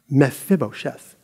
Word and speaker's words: Mephibosheth: later so it's going to talk about mephibosheth mephibosheth it's fun to say say it with me